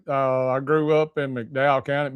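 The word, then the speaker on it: McDowell County: Uh, I grew up in Mcdow County, Mdow County, as it's pronounced locally in Jerger.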